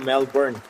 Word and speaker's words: Melbourne: everyome welcome to pronunciation Melbourne uh locals will pronounce it melbour without an R melbour Australia algary gun